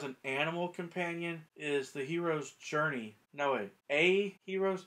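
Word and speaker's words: Hiero: animal companion is the hero's journey no way a hero's he it's not joseph campbell's book it's hero's journey h-i-e-r-o hierro but i believe it's still pronounced hero hero's journey it's a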